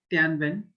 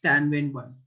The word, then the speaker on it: Tianwen: Okay, now I'm pronouncing it Tianwen.